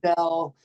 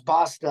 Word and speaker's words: Bosstel: my name wrong dude they call me Bell or Bell I'm like it's bastel thought I said it right I know it's more B bastel yeah so I think